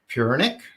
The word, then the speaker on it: Puranik: You see, I always go, is that the right pronunciation? But you beat me to it. So no, it's not. Puranik. Pronounced much more like Siri does rather than that Kevin does.